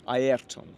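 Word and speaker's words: Ayrton: than Aeron Senna or yes Aeron because that's how you should pronounce it not Aon you would know but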